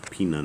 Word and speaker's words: Pinon: That's Pinon. Pinon is how you say that.